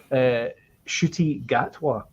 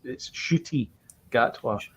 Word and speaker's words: Ncuti Gatwa: His name is Ncuti Gatwa. I think I said Ncuti or something. I can't remember what I said, but it's Ncuti Gatwa.